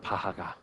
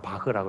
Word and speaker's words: 바흐: 그래서 세계적인 음악의 아버지라고 하는 바하가, 정확한 발음은 바흐라고 그래.